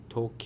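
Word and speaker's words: とけい: Clock, pronounced as toke in Japanese. This has two E vowels, so we stretch it with a beat.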